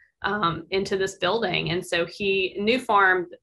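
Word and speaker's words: Nufarm: And so New Farm is the name of the company, but it's spelled N-U-F-A-R-M, and it's an Australian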